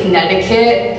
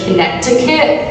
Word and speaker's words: Connecticut: We pronounce our T's as D, so we say like Connecticut instead of Connecticut.